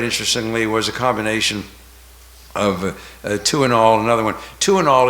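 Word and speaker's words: Tuinal: still around um but two and all and the name was a play on words it's spelled t i n a l two and all to T wo2 in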